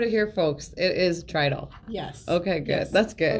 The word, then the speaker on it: Tridle: i've heard a lot of people call you turtle but now okay you've heard it here folks it is trital yes okay good that's good a lot of people say trittle yeah like it's just like it's spelled it's